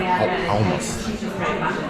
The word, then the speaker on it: hummus: Hummus. Hummus. It's like an OU in there. Hummus.